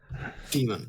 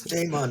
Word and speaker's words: Daemon: It's pronounced like Daemon, but it's spelled just Demon. Yeah. Demon. But did I pronounce it this way? No, you pronounce it this way, you idiot. It's Daemon, not Demon.